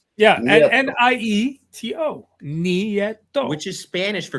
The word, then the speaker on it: Nieto: Nieto. That's how you say it. Pete said it right. Yeah, Nieto.